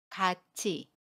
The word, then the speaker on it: 같이: 되요 그런데 여기에서도 마찬가지로 첫소리 자음 티우 꽈 모음 2 가 만나면 힐의 치 로 발음합니다 그래서 같이 라고 발음 해요 같이 그런데 발음의 는 언제나